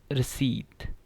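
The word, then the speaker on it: receipt: है इसकी से प्रशिक्षण रिसीप्ट रिसीप्ट इसमें है साइलेंट है तो इसको क्या करेंगे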